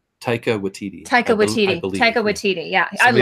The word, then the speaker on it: Taika Waititi: how you say his name Tyco with TD Taika Waititi Taika Waititi yeah I mean I correct me